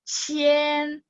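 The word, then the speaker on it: 千: Qian, ribuan ya. Semoga teman-teman nggak ketukar sama yang tadi qian nada 2 uang dan hanzinya memang beda. Huruf kanjinya memang beda. Tapi ini qian baca nada 1. Qian. Kalau tadi uang nada 2.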